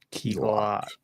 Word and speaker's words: Key Glock: Key Glock.